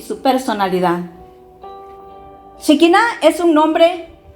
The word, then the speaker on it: Shekinah: definirlo de esta forma para que lo podamos pronunciar shekina significa la presencia de Dios la gloria y